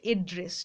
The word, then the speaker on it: address: মানে এই উচ্চারণটা হয় এড্রেস। ঠিক আছে, আর যেটা আমরা বলি নাম ঠিকানা, অ্যাড্রেস লিখুন, সেইটার উচ্চারণ অ্যাড্রেস, আর এটা যখন ভার্ব হয় তখন উচ্চারণটা হয় এড্রেস।